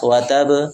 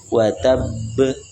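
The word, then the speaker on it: وَتَبَّ: Nah, kemudian terakhir ada huruf ba watab ah di qalqalah ya dan diakhiri dengan huruf qalqalah dan huruf qqalah tersebut juga bertasydid jangan langsung dilepas watab enggak tapi watabb watabb kecuali di ayat kedua nanti beda cara bacanya sama-sama qqalah kubrat cuma cara bacanya berbeda.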